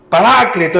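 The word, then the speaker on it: Paráclito: El Parácleto, dice la palabra, Parácleto es el acento en la segunda A.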